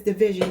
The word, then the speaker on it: DVSN: The name of the group is Division. It's spelled DVSN.